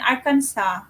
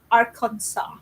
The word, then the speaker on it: Arkansas: a little Little Rock Arkansas some people say Arkansas know there's Arkansas I come side there is but the ended there's a letter s so they make it silent yes there's a lot